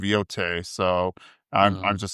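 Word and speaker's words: Yōtei: And I think it's actually pronounced Ghost of Yote, so I'm just sounds stupid.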